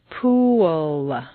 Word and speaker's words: pool: of this strange phenomenon pool looks like a nice one syllable word but if you say it this way at best it will sound like P and at worst it will be unintelligible to your listener for Clear comprehension you need to say three syllables pool where did that W come from it's certainly not written down anywhere but it is there just as definitely as the p is there the second example is